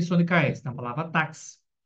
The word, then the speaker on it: táxi: Em palavra táxi, onde é pronunciado como KS, assim, táxi é foneticamente escrito como taxi.